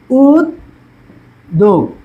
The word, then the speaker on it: উদ্যোগ: উদ্যোগ, দেখো এই যে উদ্যোগটা, দেখো উদ্যোগ, দেখো ওকারান্ত আছে, জফলা থাকলে, এই যে জফলা থাকলে যে ওকারান্ত জফলা আছে, উদ্যোগ।